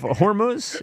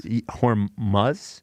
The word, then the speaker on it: Hormuz: The straight of of hormones. They can't get the the oil. There's a there's this uh the straight of hormones. Hormuz, I think it is pronounced.